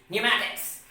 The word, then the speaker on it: pneumatics: e u m a t i c s pneumatics so here you can see that there was